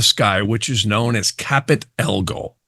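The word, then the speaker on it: Caput Algol: which is known as capit ELO now some people pronounce that differently but the ancient method was capit ELO now modern astrologers or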